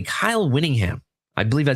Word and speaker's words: Whittingham: They hired former Utah head coach, and I apologize if I don't say his name correctly, Kyle Whittingham.